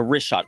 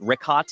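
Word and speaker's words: Richat: Yeah, the rishot.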